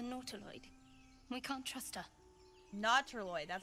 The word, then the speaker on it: Nautiloid: Nautiloid, that's how you say it.